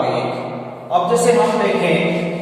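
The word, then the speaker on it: ङ: बोलते हैं, यानी कि बहुत से लोग इसका ड उच्चारण करते हैं, वो अशुद्ध उच्चारण माना जाता है। इसका शुद्ध उच्चारण रहेगा ंग, यानी क, ख, ख, ख, ंग, अर्थात ड इसका उच्चारण नहीं किया जाएगा।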